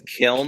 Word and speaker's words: Kiln: I don't know how how do you pronounce it? Kllin. It's Kilm.